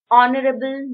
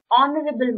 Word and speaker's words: honourable: many people do not know that H in this word is silent we can all say horrible moment it is honorable moment so o sound